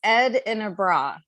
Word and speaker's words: Edinburgh: right didn't I said edra yeah I just I I thought it's Ed in a bra that's all you have to say Ed and a bra Ed is yeah yeah